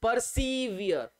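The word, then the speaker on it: persevere: बोल सकते हैं सर पर्सीवियर पर्सीवियर पर्सीवियर यहां इसका प्रस निकलेगा यर यर यर पर्सीवियर ये हो गया सर पर्सी और ये हो गया sir wear pursed wear are silent रहता पर्सीवियर ये पूछा गया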